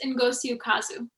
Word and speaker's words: Ngozi Ukazu: series by, I'm sorry, can you help me pronounce the name? I always do it wrong. I believe it's Ngozi Ukazu.